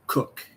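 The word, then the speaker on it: Koch: show you who Christina, I thought it would be pronounced Cook, but it's pronounced Cook, C-O-C-H.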